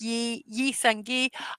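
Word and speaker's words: Lee Seung-gi: Oh, Lee Sung-ji, well, it's not Lee, it's pronounced Yi Sung-gi.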